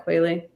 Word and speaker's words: Qualley: Is that how you say it? Yeah, Qualley. I can't say that name.